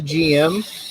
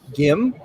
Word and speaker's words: GM: I call it the GM, but I think in Japan they call it the GIM.